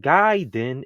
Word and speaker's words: Gaiden: take our time so legit ninja guyen is three syllables it's not just two we say oh it's